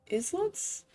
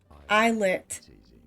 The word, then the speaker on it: islets: Emma Pilots very cautiously you pass by the islets isets I don't know those are the plums